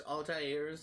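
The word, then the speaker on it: Altaïr: a it's just a I think they also mispronounce Altair's name as well even the had which if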